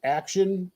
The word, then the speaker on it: Akxion: It's still Akxion.